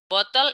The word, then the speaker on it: bottle: Bottle is bottle. 5 bottles. Boleh nggak kita pakai cara British? Boleh. British itu T-nya tidak jelas. Bottle.